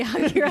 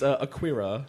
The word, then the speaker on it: Akira: And I have to say that with that pronunciation, so I don't happen to say Akira. Don't you dare say Akira. It's not. It's Akira.